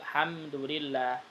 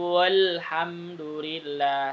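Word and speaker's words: الحمد لله: maka madnya tidak dipanjangkan jadi bacanya waqolul hamdulillah tidak dibaca Alhamdulillah salah ya tentang atau jarak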